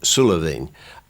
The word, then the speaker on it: Sula Bheinn: It will be pronounced in Gaelic, Sula Bheinn.